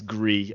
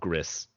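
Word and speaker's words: Gris: it's like the French the French pronunciation for the word gray gree well they're wrong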